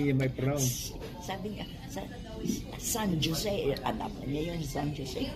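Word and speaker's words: San José: You don't say San Jose. The J is pronounced with H. It's San Jose.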